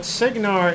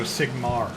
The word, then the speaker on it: Sigmar: Hold on, but Signar is a No, Sigmar.